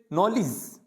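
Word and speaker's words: knowledge: फिर नॉलेज, नॉलेज, यानी के यहाँ पे भी क्या होता है, साइलेंट होता है, इसको क्या पढ़ा जाता है, नॉलेज।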